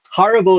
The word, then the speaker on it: Haribo: So Haribo is how you say it in German, and it's very specific why you say it like that, because the catchphrase is